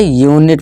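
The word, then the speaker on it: unit: इस तरह से अनीक नहीं यूनिक, इस तरह से यूनिट पढ़ेंगे, अनिट नहीं।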